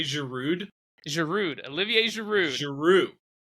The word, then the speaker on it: Giroud: is your rude Olivier Giroud French don't pronounce the last letter whatever we do in